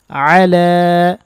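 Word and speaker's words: على: গিয়েছে আল্লাহুম্মা সাল্লি ওয়াসাল্লিম আলা এখানে এক আলিফ টানবেন গলার মধ্যে নিয়ে লা এখানেও এক আলিফ টানবেন একটু টানতে হবে নাবিনা এটা বানান ভুল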